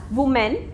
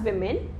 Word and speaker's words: women: Usually people pronounce it as women, but it is not the correct pronunciation. We have to call it as women.